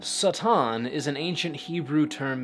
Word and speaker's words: Satan: title was not pronounced Satan the word originally had a short vowel sound seitan is an ancient Hebrew